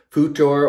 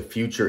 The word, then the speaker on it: Futur: Also, we're going to be using the Mercury Futur or Future. The F-U-T-R, the way it's spelled, roughly translates to future anyway, so it's just easier for me to call it future.